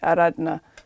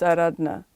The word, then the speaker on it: Aaradhna: I know, I've said my name wrong the whole time too. I mean, I always knew that that's not the proper pronunciation. Like my dad's always said Aaradhna, you know. When I go see family, it's Aaradhna.